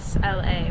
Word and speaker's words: Isla: Sophie, and Hi, I'm Isla. Isla. Yes. Okay, I'm not familiar with that name. It's Scottish. Scottish. How do you spell Isla? Isla with a silent S.